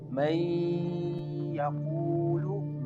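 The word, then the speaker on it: مَن يَقُولُ: Here in this word the noon merge with ya, the noon merge with ya, and what type of sound is pronounced? May yaqulu, may yaqulu. You can feel the sound is going into your nose.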